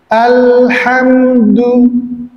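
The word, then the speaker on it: الحمد: Nah, yang pertama pengucapan huruf lam sukun ya. Itu lidahnya ke langit-langit al. Silakan. Al-ha. Al-ha. Ya. Jadi tidak dilama-lamain atau tidak ditahan, tapi memang menyempurnakan huruf lamnya. Al-ha. Alhamdu.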